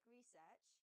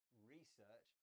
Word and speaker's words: research: Beth, you said research. I say research. It's just a change in word stress, and both are fine.